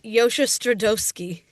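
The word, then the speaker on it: Josha Stradowski: We're also still pronouncing his last name wrong. It's Yosha Stradoski.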